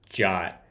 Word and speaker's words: JWT: The suggested pronunciation of JWT is the same as the English word jot.